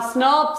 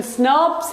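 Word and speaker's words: snRNPs: जहां स्नर्व्स, इनका प्रोनाउंसिएशन स्नर्व्स है.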